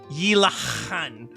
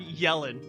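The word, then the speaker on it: Yelan: Uh, it's pronounced yilahan, not yelling.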